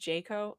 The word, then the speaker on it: JCAHO: that he said oh it's pronounced jako okay thank you the